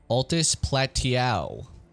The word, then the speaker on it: Altus Plateau: Altus Plateau. That's how you pronounce that word, fun fact. In case you didn't know.